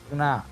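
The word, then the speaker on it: ज्ञ: So I will put it as Gna, G-N-A. Gna, I have put. Actually, it should be like J-N-A type, but we will use this because it is, people can find it easy to pronounce.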